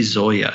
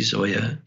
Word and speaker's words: Zoja: He's an Italian psychologist, and his name is spelled in a very strange way if your listeners are trying to find it. His last name is Zoja. Okay. Luigi Zoia.